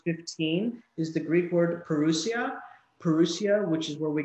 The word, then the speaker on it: parousia: interpreted Institute English is parousia and Joey you spell that for us yeah it's PA r oh you si a parousia and this is a technical term I just